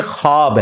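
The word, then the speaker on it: خواب: नहीं आ सकता अच्छा ये लफ्ज लिखने में है ख्वाब ख व अलिफ बा लेकिन पढ़ने में यह खवाब है व साइलेंट हो जाता है ख्वाब पढ़ा जाता है यह लफ्ज उर्दू में खवाब खवाब नहीं है ख्वाब लिखने में खवाब है तो फिर उन्होंने वो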